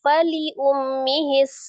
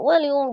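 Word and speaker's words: فلأمه: Fainana lahu ikhwatun faliummis. Nah, itu ee agak diperjelas antara huruf wau dengan huruf fa bedanya. Jadi, faliummi gitu ya, bukan walium.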